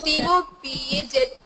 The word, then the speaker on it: topaz: Sir, Topaz T-O-P-A-Z. How to pronounce T-O-P-A-Z? It's not Jed, it's Zed. It's Topaz.